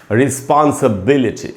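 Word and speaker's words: responsibility: इसको कैसे पढ़ेंगे, इसका उच्चारण होता है रिस्पॉन्सिबिलिटी, रिस्पॉन्सिबिलिटी, इस ऐसे रिस्पॉन्सिबिलिटी। आई टी वाई से खत्म हो रहा है, उसके पहले आई ही है, यानी ये जो ई है यहीं पर हमको ज़्यादा रुकना होगा।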